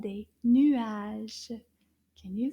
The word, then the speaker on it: nuage: And clouds in French is called des nuages. Can you say that? Nuage. Nuage. Combien de syllabes dans le mot nuage? Nuage. Deux syllabes. Nuage.